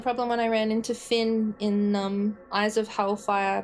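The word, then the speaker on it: Fionn: had the same problem when I ran into Finn in um Eyes of Hellfire because it's f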